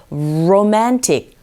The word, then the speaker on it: romantic: R 발음하실 때 입모양 첫 모양 자체가 우 하면서 romantic, romantic. 로 아니고 러.